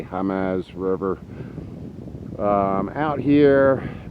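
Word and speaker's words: Jemez: Mexico that's about 20 miles from Jimenez but it's spelled je m easy Jumeirah germ as river or I should say hum as River out here it's way out in the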